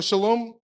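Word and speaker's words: שלום: So shalom, this is how you say it in Hebrew.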